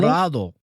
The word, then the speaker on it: champurrado: I can't even pronounce it right. How do you say it? Champurrado? Champurrado? Champurrado.